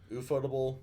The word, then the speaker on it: ufotable: Ufotable, ufotable, tomato, tomato. I Hey, pronounce it's it a kitty. ufotable because, well, Ooh, Japanese. ooh, yeah. Yeah, the U is pronounced oo.